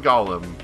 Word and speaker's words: golem: It ends up being pronounced like Gollum.